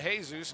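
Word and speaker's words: Jesús: pass back over to to hey-zeus now he does her to Jesus rather that is how he pronounces it here's hemming over to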